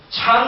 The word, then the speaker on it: 禪: 이건 일본말이죠. 중국 발음은 찬이에요. 찬입니다. 그래서 지금 찬 그러면 서양 사람들 잘 몰라요.